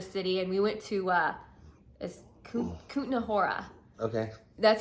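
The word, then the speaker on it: Kutná Hora: actually left the city and we went to Kutna Hora. Okay. That's how you pronounce it.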